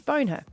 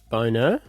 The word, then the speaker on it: Bonher: Wouldn't that be pronounced boner? No, it was her parents. Bone her.